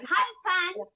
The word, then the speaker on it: Hai Phan: Hai Phan.